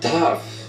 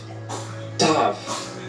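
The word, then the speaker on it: ת: E a outra letra, letra Tav. Tav. Ela vai ter o som mais de TH.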